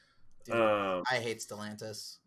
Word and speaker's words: Stellantis: Dude, I hate Stellantis, Stellaris, whatever. Dumbass name. Did I say it right the first time? Stellaris is a drug. Stellantis, yeah.